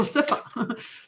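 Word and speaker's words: Sipha: I might not even be pronouncing it right, but S-I-P-H-A. PH is F. So Sifa.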